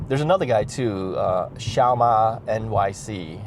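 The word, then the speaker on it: Xiaoma: another guy too uh shiaa NYC it's spelled x i a o m a NY C shama is is like a small horse um in Chinese NYC cuz he was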